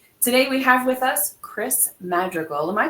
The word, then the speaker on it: Criss Madrigal: Today, we have with us Criss Madrigal. Am I pronouncing that correctly?